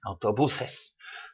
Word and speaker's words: autobuses: ends in an S so it should be stressed on the next to the last syllable and it is autobuses so the plural about